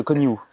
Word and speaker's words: Conihout: Alors on prononce pas le T. Merde. Ok. Marie de Coniout.